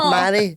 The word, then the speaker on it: Mhairi: I've never understood how I always tell people you pronounce my name as though you're proposing to me like will you Marry Me Marry and they're like ah